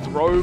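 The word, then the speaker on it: Throh: it's not, it's a Throch. I know it's technically meant to be pronounced Throw, but I always pronounce the thing Throch, or Throch. It just sounded cooler to me than Throw.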